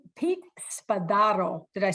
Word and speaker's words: Spadaro: Pete Spadaro.